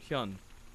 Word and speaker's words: Hyun: to properly say it now i think it's hun hyun yeah quantix yun anyways this is the final